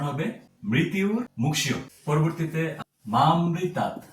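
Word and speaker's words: মামৃতাৎ: হবে মৃত মুয় পরবর্তীতে মামৃতাত আমরা এটাকে মা প্লাস অমৃতাত এরকমভাবে উচ্চারণ করব যদি আমরা এরকমভাবে উচ্চারণ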